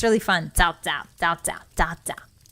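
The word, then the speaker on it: Cao Cao: They're like, hey, that's not cow cow, that's Sao Sao. And I was like, ah, you got it. And now I can't stop saying it. It's really fun. Sao Sao, Sao Sao, Sao Sao.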